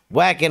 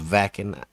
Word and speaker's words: Wacken: the next one on our within temptation journey whacking open air 2019 sorry i know it's pronounced vacuum yes i know i know don't have to